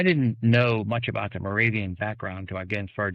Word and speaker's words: Moravian: Um the let me hopefully I'm pronouncing this correctly. The Moor Morov Moravian Moravian.